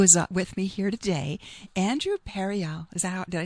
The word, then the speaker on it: Andrew Pereali: So my dear friend who is with me here today, Andrew Pereali.